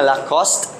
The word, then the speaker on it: Lacoste: Aposcope is where the final removal of the weak phoneme happens. Okay? Ang aposcope, for example, sa brand or word nga Lacoste, you cannot pronounce the word nga eh. Lacoste. Dili na Lacoste. Lacoste dapat.